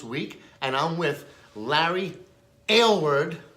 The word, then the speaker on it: Aylward: Joe here at ECRM Store Brands Week, and I'm with Larry Aylward, right? That's the way to pronounce That's it.